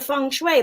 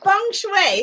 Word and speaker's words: feng shui: it either laughs yeah feng shui here's how you spell it look f-e-n-g-s-h-u-i it does not spell like you say it at all and who's that Kimberly